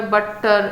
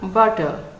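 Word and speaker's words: butter: যেমন এটাকে আমরা বাট্টার, অনেকে বাট্টার বলে ফেলে, আবার অ্যাপল, সাডেনলি, হ্যাপি, গ্রাম্য, স্ট্যাম্য, আপিয়ার, এইভাবে ডাবল লেটারগুলোকে জোর দিয়ে বলা হয়, কিন্তু এর অ্যাকচুয়াল প্রোনাউন্সিয়েশন হলো বাটার, single sound, two লেটার্স বাট single sound.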